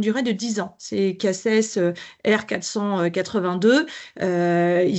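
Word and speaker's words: CACES: il y a des ce qu'on appelle le casss en fait souvent nous on forme les collaborateurs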